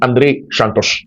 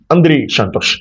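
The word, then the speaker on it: Andrey Santos: And then of course Andre Santos name is Andre Shantosh. Andre Shantosh.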